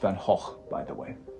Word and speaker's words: Van Gogh: pronounced Van Gogh.